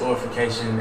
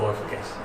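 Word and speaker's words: Aurafication: A-U-R-A-fication. Oh, okay. I had to make sure I was saying you right. Yeah, Orification. I heard oral.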